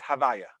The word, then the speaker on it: Havaya: That, and the way we do pronounce it is not the correct vowels, but we pronounce it as Havaya.